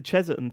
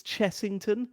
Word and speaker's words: Chessington: It reminded me of the Cheserton thing. Oh yeah. It's Chessington.